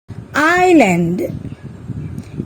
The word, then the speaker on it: island: pneumonia let's find out some other words where S is silent আহাচোন আমি এতিয়া Sৰ উচ্চাৰণ কতনো উজ্জ হৈ আছে চাও island debris aisle এই শব্দকেইটাত আমি দেখিলো যে Sৰ উচ্চাৰণ উজ্জ হৈ আছে listen castle ballet whistle Christmas often hasten can you